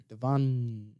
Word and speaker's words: Devonn: It's just a long N. I have a silent letter. Devonn.